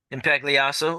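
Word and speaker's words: Impagliazzo: pronounce your last name please and Spell impo impact leaso okay would you spell it for the quote reporter please i m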